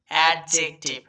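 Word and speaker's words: adjective: আই ভি ই টিভ, অ্যাডজেক্টিভ। হ্যাঁ, এটা আমরা অনেকেই অ্যাডজেক্টিভ উচ্চারণ করি, কিন্তু যদিও এটা ভুল উচ্চারণ, এটা সঠিক উচ্চারণ হবে অ্যাডজেক্টিভ। এখানে কিন্তু ডিটা সাইলেন্ট হয়ে যাবে।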